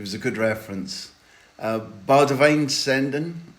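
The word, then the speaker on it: Boudewijn Zenden: a good reference uh B Divine sendon I hope I've done my best there for the correct Dutch pronunciation you have heard this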